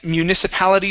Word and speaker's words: municipality: good nice job uh next one for you is the word municipality okay our stress is right here on pal okay in municipality schools in municipality schools